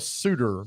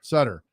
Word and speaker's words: Sutter: Daryl Sutter or Daryl Sudter. Sutter. Sutter.